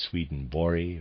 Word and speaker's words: Swedenborg: It's entitled Jakob Boehme, Paracelsus, and I'm going to pronounce it this way, Swedenborg. It's properly pronounced Swedenborg or something to that effect, but I will be pronouncing it Swedenborg.